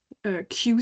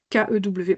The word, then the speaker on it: Kew: Kew, ça s'écrit K-E-W pour ceux qui ne connaîtraient pas. Je le dis parce que en fait, quand on ne connaît pas, ça fait bizarre d'entendre Kew.